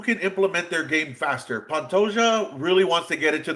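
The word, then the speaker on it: Pantoja: I don't know if I've seen Pantosia. Is that Is that how you said it right or or No. Yeah, you said it. Yep, you got it. Alexandre Pantoia.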